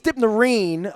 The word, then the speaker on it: Dipnarine: Dipnarine. I thought it's Dipnarine, but that's American. Yeah, that's how the Americans say it.